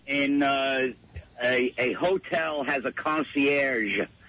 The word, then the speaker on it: concierge: In a hotel has a concierge. It's a soft G. All right, concierge.